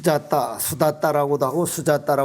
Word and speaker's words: 수다타: 큰 도시에 사는 이 수다 따 우리말로는 수다 따라 고도 하고 수달 따라 고도 하고 이제 발음이 조금 차이가 나기 때문에 흐르는데 이 수다 따라